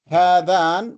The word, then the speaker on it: هذان: But we also pronounce another alif after the ha. هذان. هذان. But we don't see it. And the similar thing is also in هذين. There is an alif that we do not pronounce, but it is there. We pronounce, but it is not written. In fact, it is longer than a fatha.